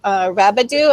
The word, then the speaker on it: Rabideau: Now Susan Rabideau.